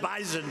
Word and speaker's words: bison: about bison I said I thought it was an S they said it is but it's pronounced bison so we didn't want